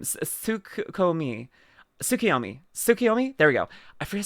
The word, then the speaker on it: Tsukiyomi: Tsukiyomi.